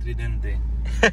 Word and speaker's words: Tridente: You have to say it like an Italian, Tridente.